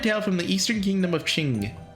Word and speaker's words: Qing: Today the horsey company will be performing a thrilling fantasy, a beloved tale from the eastern kingdom ofQing. I believe it the Q is pronounced like chip.